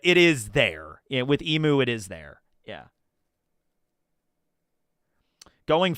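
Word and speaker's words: Imu: Emu is the right way to say the name. I was saying Em for the longest time, and I got into it.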